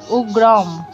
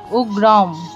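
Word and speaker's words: উগ্রং: অনুস্বারটি শব্দের শেষে আছে শব্দের শেষে যদি অনুস্বার থাকে তাহলে উচ্চারণ হবে হসন্ত যুক্ত ম অর্থাৎ এখানে উচ্চারণটি হবে উগ্রম উগ্রম তারপর দেখুন বিরাম এখানে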